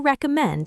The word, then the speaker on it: recommend: What do you recommend at this event? What do you recommend at this event? Good try, Fizu. The stress is on the second syllable. Recommend. Try once more.